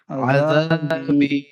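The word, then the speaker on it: عذابي: দেখতে পাচ্ছেন জালটা জি এই জালটা জালের উচ্চারণ হচ্ছে একদম উপর থেকে হবে হালকা করে আওয়াজ হবে ঠিক আছে আজাবি আজাবি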